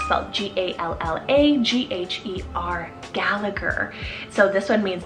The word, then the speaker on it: Gallagher: rooted name meaning godly another surname option is gallagher celt g-a-l-l-a g-h-e-r gallagher so this one means descendant of foreign